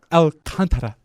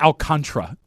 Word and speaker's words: Alcantara: Sandy Alcantara, not Alcantara. We should have you, and we've talked about her before, Sylvia, who's the FU lady on our truck commercials.